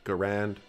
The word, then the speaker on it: Garand: Though both pronunciations are common and accepted, Garand is considered the correct way to pronounce the designer's name.